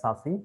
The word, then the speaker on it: SASE: This is what I mentioned, SASE or SASE, pronounced as SASE.